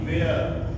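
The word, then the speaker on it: where: वो कहां साइलेंट रहता डब्लू के तुरंत बाद अगर एच आता है यानी हमारे जो डब्ल्यू एच वाले शब्द होते हैं और कौन से शब्द होते हैं जिनसे हम क्वेश्चंस बनाते हैं तो ऐसे शब्दों में क्या है हमारा एच जो होता है वो साइलेंट रहता है जैसे आप देखिए डब्ल्यू डब्ल्यू एच ए T what W एच ई आर ई वेयर और इसी तरह से हुम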